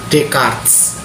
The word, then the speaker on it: Descartes: dia dia adalah Rene decarts ya tulisannya memang Des chartes ya Tapi teman-teman bacanya Des jadi dengan metode skeptisnya dan